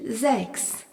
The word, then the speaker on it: sechs: Le nombre 6 se dit sechs. S-E-C-H-S. Remarquons que le S en début de mot est suivi d'une voyelle se prononce Z.